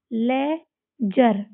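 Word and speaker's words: ledger: अब इसको देखो ले जर लेजर इसमें भी डी को साइलेंट कर देंगे है ना और भी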